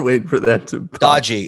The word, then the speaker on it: Doge: Dodgy. It's pronounced dodgy.